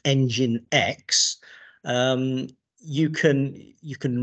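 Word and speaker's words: nginx: really so in combination with this thing that's pronounced engine X um you can you can run alongside it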